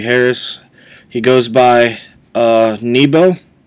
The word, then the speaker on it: N3bo: he goes by uh nebo it looks like n3bo but it's pronounced nebo his profession he's a